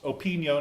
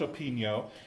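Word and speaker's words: Opigno: management system called open Neos and this is pronounced open yo natto Pig mo spelled o Pig now pronounced open yo and it is in use by a lot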